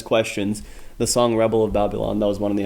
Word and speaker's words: Babylon: The song "Rebel of Babylon."